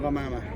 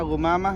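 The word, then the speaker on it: غمامة: Kalau pakai ghin dan diharakat dhammah, maka bacanya Ghumamah menjadi sampah. Itu kefatalan dalam bahasa Arab. Kedua, ada Ghamamah, ghin dibaca fathah, gha, artinya kalau bahasa Indonesia huruf G, H pakai A.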